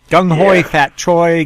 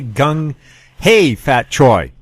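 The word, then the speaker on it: Kung Hei Fat Choi: Gung Hoi Fat Choi, Gung Hey Fat Choi. That's at least two of the pronunciations I've heard for Happy New Year in Chinese.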